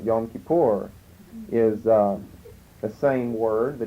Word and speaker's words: Yom Kippur: But Yom Kippur, they pronounce it Yom Kippur, is the same word, the Day of Atonement.